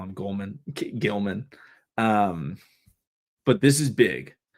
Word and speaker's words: Gilman: It's Aloe Gilman. Thank you. Appreciate it. Oslime. Um, can also say I never pronounce it. I just always call him Gleman.